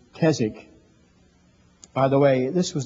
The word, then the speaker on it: Keswick: understand they've heard the word kzig sometimes they pronounce it Keswick but it's kzk by the way this was the first year